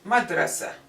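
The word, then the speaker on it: مدرسة: Sometimes we don't pronounce the ta. We pronounce it as if it was ha, madrasa. Madrasa, madrasa, like if it was ha.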